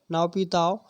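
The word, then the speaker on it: Naypyidaw: ठीक है, म्यांमार के बारे में, म्यांमार की राजधानी है नाओपिताओ। ठीक है, ये प्रोनाउंस इसी तरीके से होता है, इंग्लिश में थोड़ी डिफरेंट हो सकती है स्पेलिंग।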